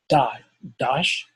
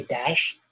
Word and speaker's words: Dosh: And the next thing that I want to show you guys, this is an app that's called Dosh. You could say Dash, DOSH. Some people pronounce it different.